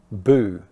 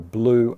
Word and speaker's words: blue: And these are often mispronounced as boo and back by dropping the L. So you need to pronounce both the B and the L, blue and black, not boo and back, because that's a completely different word.